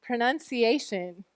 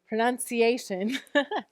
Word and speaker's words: pronunciation: Pronunciation. We can sound it out too. O, C, A, sh, Pronunciation. Yeah, there's a schwa there, right? It's an O saying it's schwa sound, and it's not stressed.